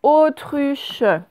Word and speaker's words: autruche: Alors, autruche, OAU. Tru, j'entends bien t, t, ce n'est pas de, et c'est tru, c'est pas tu, il y a bien deux consonnes, le T et le R.